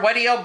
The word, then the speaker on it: WEDIO: I thought WEDIO rhymes with SpaghettiOs. It does, sort of.